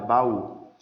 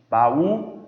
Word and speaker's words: baú: palavra aqui a palavra baú Olha aí só a palavra baú a sílaba mais forte a última baú a sílaba mais forte